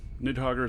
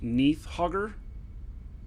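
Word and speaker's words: Nidhoggur: think so what's true nid hoger is actually pronounced Neath hoger really Neath hoger where's Neath okay so and so they're they're putting the DH together as a th oh I trust JJ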